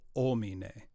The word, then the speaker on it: homine: Then Vere Passum Vere passum Immolatum immolatum in cruce pro homine. in cruce pro homine. Yep, homine. So just Homine, leave that okay. H off. H is silent.